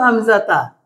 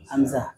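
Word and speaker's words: حمزة: Hamzata, kalau itu sukun ya Hamzah. Ya, ini kita nggak sukun. Ha, ini ta atau ha ini? Tak merbuto. Kalau disukun bacanya Hamzah. Kalau nggak disukun ta, Hamzah, ta. Ini kan ta sebetulnya. Dia dibaca ha, Hamzah. Itu karena dia sukun.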